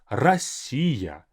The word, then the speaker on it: Россия: And again, for the pronunciation, Россия. This iya adds a bit of more of that like length and song-like pronunciation. Россия. Don't just leave it at Россия. It's too reserved, too limited.